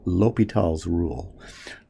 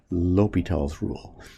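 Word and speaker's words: L'Hôpital: rule though it's called l'hopital's rule l'hopital's rule and some textbooks spell it the way i did our textbook spells l'hopital as if the word opital was hospital and apparently that's how you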